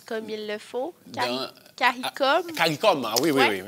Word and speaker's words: CARICOM: Est-ce que je le prononce comme il le faut? CARICOM?